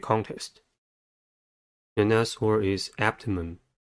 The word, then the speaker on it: abdomen: The next word is abdomen. Abdomen has three syllables and the stress is at the first one.